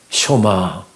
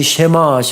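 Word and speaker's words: שמע: 쇼마 이스라엘, 이스라엘아 들으라. 우리가 흔히 쉐마 합니다마는 정확한 히브리어 발음은 쇼마입니다. 들으라라고 하는 뜻이고요.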